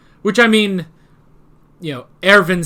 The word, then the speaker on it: Erwin: Which, I mean, you know, Erwin Smith, it's spelled with a W, but you pronounce it with a V, so.